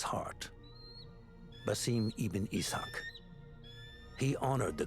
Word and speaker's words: Basim: His name is Basim. I have been saying his name wrong the entire fucking time in Valhalla.